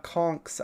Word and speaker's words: conch: I was traumatized when I saw a conk's eyes for the first time. By the way, conch is pronounced conk, and that's funny.